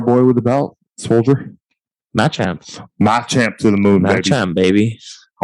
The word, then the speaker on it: Machamp: Machamp to the moon, Machamp, baby. I wanted to make sure I pronounced it right.